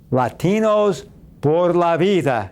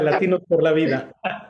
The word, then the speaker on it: Latinos Por La Vida: How's that? That's about the extent of my Spanish, but I think I said it right, didn't I, Omar? Great to be with you. Absolutely. You got it right.